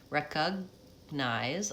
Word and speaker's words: recognize: welcome, Majid, it's definitely a stopped G. So recognize, I'm not releasing that G, I'm just releasing the N, releasing into the N.